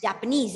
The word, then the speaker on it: Japanese: speak spanish japanese japanese japanese exactly because the last word the last syllable has stressed has been